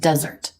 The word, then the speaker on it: desert: The Sahara is the world's largest desert. But also dessert. Stress changes now. Desert. To leave, to abandon.